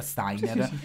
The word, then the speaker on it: Steiner: ina e David Steiner che si scrive ST però parlando e googlando dato che Einstein si Lece Einstein dovrebbe essere la coppia Steiner e quindi lo ripeteremo